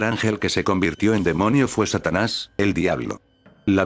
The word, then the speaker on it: daemon: En religión, ocultismo y folclore, un demonio o daemon, demon que se pronuncia demon.